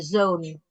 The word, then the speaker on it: zoon: Zone bacanya 2 O, jangan 1. 1 berartinya matahari ya. Jadi ucapan di bahasa Belanda itu sangat peka ya. Ada perubahan sedikit, berubah artinya. Zone itu anak laki-laki, sedangkan zon itu matahari.